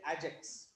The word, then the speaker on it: AgX: Okay, you have to say Ajax. They will use the word Ajax because they don't know.